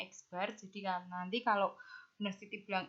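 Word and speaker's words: x̄: Nah, cara menghitungnya pada rumusannya ini kita bisa lihat rumusannya X bar, ini bacanya X bar.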